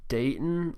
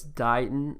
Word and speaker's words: Dighton: think I pronounced it Dayton last time so it's Dighton like D I gh en but it's spelled like bright with a D and then on so